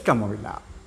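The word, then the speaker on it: calm: নেই শান্তশিষ্ট contra indicates কেমন কামনেস মানসিক শান্ত ইংরেজি হচ্ছে কামনেস সি ও এল সি এ এল এম কাম কাম মানে শান্ত উচ্চারণ কাম সি ও এম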